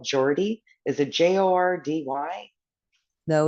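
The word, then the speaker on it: Geordie: would pronounce it or no you say it Jordy but it's it's pronounced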